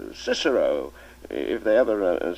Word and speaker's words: Cicero: A lot of nonsense, in my opinion, making boys say Kikero at school when for the rest of their lives they'll say Cicero, if they ever say it at all.